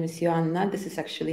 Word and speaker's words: Joanna: already know my name is my name is Johanna this is actually how you pronounce my name in my English in my